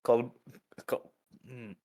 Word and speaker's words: Colmboles: That's spelled COLMBOLES. Comboles.